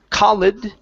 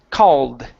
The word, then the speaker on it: called: civilization okay very good let's practice this Ed ending here instead of colid okay this is going to be called called called called okay all right pretty good